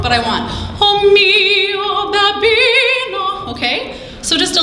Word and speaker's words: mio: mio, that with Italian, we always emphasize the second last syllable, unless it's an exception. If it's got an accent on the end of the word, then we would accent the last.